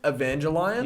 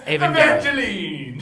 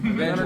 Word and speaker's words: Evangelion: How do you pronounce it? Neon Genesis Evangelion. Evangelion? Okay, A- I've been calling it Evangelion. Yes. It's Evangelion. Evangeline!